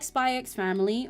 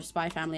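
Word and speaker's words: SPY×FAMILY: Oh, I like Spyex Family or whether Spy Family, I know, is the way you're meant to pronounce it.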